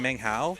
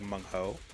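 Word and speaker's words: 孟浩: is I called him Meng Hao, but apparently you're supposed to pronounce it like Meng Ho or something akin to that.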